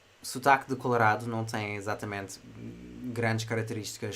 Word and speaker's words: Colorado: vez da palavra father, pronunciamos o A na palavra Colorado como a, Colorado.